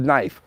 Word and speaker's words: knife: come from or you want me to spell knife why the is it a